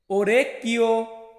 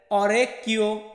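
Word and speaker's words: orecchio: তারপর হচ্ছে ওরেকিও, ওরেকিও বা এমনটা উচ্চারণ করতে পারেন অরেকিও। তো অরেকিও আর ওরেকিও একই রকম।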